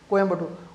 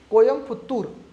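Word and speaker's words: கோயம்புத்தூர்: कोयम्बटूर, उसको शुद्ध क्या बोला जाना चाहिए? तमिल भाषा में उसको शुद्ध बोला जाना चाहिए कोयम्पुत्तूर, है ना। तो कोयम्पुत्तूर बोलना चाहना चाहिए, तो कोयम्बटूर की स्पेलिंग हटा के कोयम्पुत्तूर करो।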